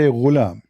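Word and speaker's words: غلام: Al-ghulam بضم الغين, which mean you say ghulam.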